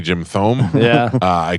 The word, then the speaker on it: Thome: And I used to pronounce all the names wrong. Oh yeah, I called sure. Jim Tomey, Jim Thome.